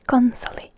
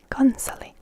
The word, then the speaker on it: konsoli: So here you can see that console is again one of those words that literally is just made Finnish in the way that it's written and pronounced. So instead of a console we say konsoli, konsoli.